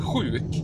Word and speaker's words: sjuk: Men sjuk är också ett skedjud, men det stavas SJ. Sjuk och skidor uttalas ju samma.